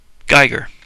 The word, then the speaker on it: Giger: him sorry Giger Giger does it say how to pronounce his name on here Gyer according to Wikipedia how well you can